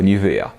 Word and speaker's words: Nivea: Najsłynniejszym produkowanym do dziś specyfikiem z tejże fabryki jest oczywiście krem Nivea, na Górnym Śląsku wymawiany oczywiście jako Nivea.